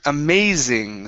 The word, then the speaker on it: amazing: uh next is uh the word amazing so give me a z sound here it's Z Amaze